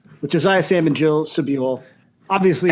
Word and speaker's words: Sobule: And I'm Sam Sutherland, and this week we're talking about Supermodel by Jill Sobule, whose name I learned how to pronounce possibly 10 minutes ago.